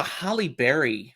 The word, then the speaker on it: Halle Berry: 2003 gotha it's a holly berry film and he has a key role as Pete Graham sorry it's a who film Holly Berry that is how you say her name is it really it